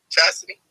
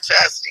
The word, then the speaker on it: Chastity: Is that how you say that? Chastity? Yes, that is how you pronounce my name. Yeah, Chastity.